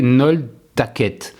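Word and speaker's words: Nolhtaced: En Belgique, Decathlon change de nom et devient Nol Taced, prononcé Nol Taquette.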